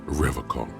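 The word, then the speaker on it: Revachol: He pronounces Revaccom with a hard K.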